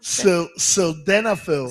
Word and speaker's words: sildenafil: So it had some type of I don't know how to pronounce it. So Bronxpapito, you gotta help me here. Sildenafil? Sildenafil. Sildenafil. It's called which is sildenafil.